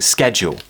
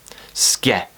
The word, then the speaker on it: schedule: in southern England now a lot of people are just saying schedule schedule skip schedule and in my opinion it's entirely up to you if the rest of